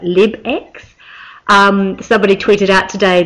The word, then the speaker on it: LibX: had problems pronouncing um I think it's not live X the toolbar but lib X um somebody tweeted out